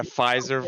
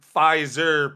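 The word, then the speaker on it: Fiserv: that I know that but it's pronounced the same it's similar yeah it sounds it just has a V at the end yeah so game game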